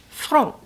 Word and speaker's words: Franc: Okay, now we're going to jump in to Rouge Franc, and that is how you pronounce it. Franc.